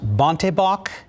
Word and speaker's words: bontebok: now see a rare african i think it's pronounced bontebok antelope calf at the oregon zoo tatula was